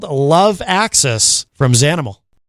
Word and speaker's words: Xanimal: The project is Zanimal. Now I know how to say it correctly. And uh let's hit this. This is another another great track. This is called love access from Zanimal.